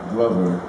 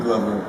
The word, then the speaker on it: Glover: sometimes it depends on it comes from the same glove you know it's a english name glove glover but some people call me clover and everything else and it doesn't bother danny glover but i think now